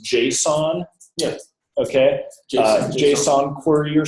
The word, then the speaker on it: JSON: a bunch of data via a is it pronounced Json yeah okay Json query or something just a